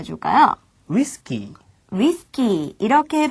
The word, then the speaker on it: ウイスキー: 위스키는 어떻게 발음해 줄까요? ウイスキー.